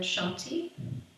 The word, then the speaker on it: Shanti: It's the Sanskrit word Shanti. We pronounce it 3 times.